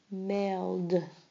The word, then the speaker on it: mailed: You hear the t sound at the end. Past. Mailed.